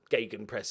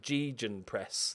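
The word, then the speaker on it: Gegenpress: pronouncing on I know my Gagan press is like an English pronunciation it's bad but I heard somebody pronounce it G Jian press the other day which I was amazed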